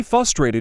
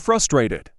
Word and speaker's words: frustrated: When they say frustrated instead of frustrated. Ax instead of ask. Not a mispronunciation, but I could care less.